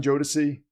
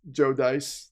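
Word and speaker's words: Jodice: How many times I've gotten Jodicy? Jodis. I've gotten some pretty weird versions of it, too. It's just It's Joe Dice.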